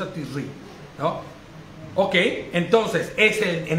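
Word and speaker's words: תשרי: Tisrei. Tisri. Bueno, sí, Tisri, claro. La pronuncia Tisri, ¿no?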